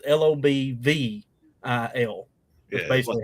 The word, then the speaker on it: Lobelville: L-O- It's spelled Lobelville, but we say it as Lobel. It's Lobvil.